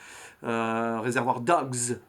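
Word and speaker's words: Reservoir Dogs: Réservoir Dogs, si on veut le prononcer à l'anglaise.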